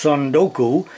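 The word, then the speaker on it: 積ん読: I guess it's pronounced Sundoku.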